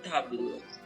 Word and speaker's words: table: Oo, yung E sa after ng L, La table. hindi mo na may pronounce. Parang sasabihin mo lang table.